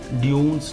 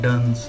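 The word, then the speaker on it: dunce: इसे आपने ड्यून्स नहीं पढ़ना, ये है डन्स, बुद्धू बेवकूफ़ को कहते हैं।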